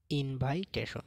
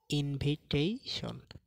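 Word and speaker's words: invitation: তো প্রথম ওয়ার্ডটা হলো ইনভাইটেশন, যেটা হলো ভুল উচ্চারণ। তো এটা সঠিক উচ্চারণ হবে ইনভিটেশন।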